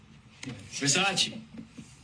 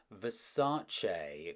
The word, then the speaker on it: Versace: Versace? It's pronounced Versace.